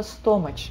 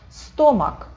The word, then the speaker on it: stomach: Так вот, именно из-за того, что это чё, все читают это стомач, это часто бывает. Надеюсь, что у вас этого уже нет, потому что вы просто знаете это слово. Стомак, с чем это связано? Заимствованные из латыни слова очень часто включают в себя CH и служат для записи К, звуков К или Х.